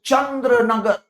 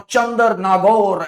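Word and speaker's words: Chandernagore: In 1675, French had established Chandranagar, or Chandar-Nagore as it is correctly pronounced.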